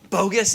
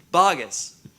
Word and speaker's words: Boggess: Maybe it actually is supposed to be pronounced bogus, but we won't let that happen, right? No, it's not bogus. It's bogus.